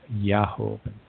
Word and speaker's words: Jehovah: Now, I say the term Jehovah, but at that time it was most likely pronounced Yahovah, because I'll just leave it at that.